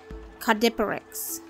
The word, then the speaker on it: Caudipteryx: Yes, that's a very hard word to pronounce. I did have to look it up. So it is caudipteryx.